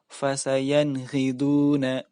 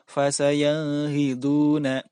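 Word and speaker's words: فسينغضون: Fasayanghiduna yaitu bertemunya nun mati bertemu dengan huruf ghin. Huruf ghin atau ghain merupakan salah satu huruf izhar, maka bila ada nun mati atau nun sukun bertemu dengan huruf ghin, maka wajib dibaca jelas.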